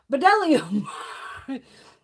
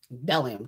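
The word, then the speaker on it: Bdellium: because it's b d people go bedellium he's just the bee is silent bellium tools and i was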